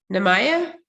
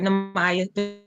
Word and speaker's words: Namaya: Nemaya? No? I could be saying it wrong. Last name is Davis. She's there. Oh. She's trying to mute herself. Okay. Yeah, that's right, Namaya.